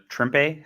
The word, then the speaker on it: Trimpe: I like Herb Trimpe. How do you pronounce that guy's name? A lot of people hate Trimpe, but I think he's just Trimp.